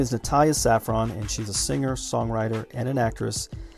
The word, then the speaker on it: Natalie Safran: Am I pronouncing that right, Natalie? Yeah, that's right. It's Natalie Safran.